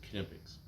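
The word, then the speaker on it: Knipex: on the company website and they pronounce it kipic they pronounce the cake so kipic makes a really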